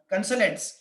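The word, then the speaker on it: consulates: बेटा ये कंसल्टेंट्स क्या होते हैं, कंसल्टेंट नहीं, कंसलेट्स, सॉरी माय मिस्टेक, कंसलेट्स, थोड़ा ये अजीब प्रोनाउंसिएशन है इसका।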